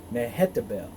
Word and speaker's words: Mehetabel: was pow pie and his wife's name was mahetta bell mehetabel the daughter of matre the daughter of mezahab